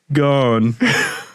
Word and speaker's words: Ghosn: the morning I'll be gone do you see what I did there do you see do you get it cuz Carlos guns name is pronounced gone and it sounds a little like gone in the morning I'll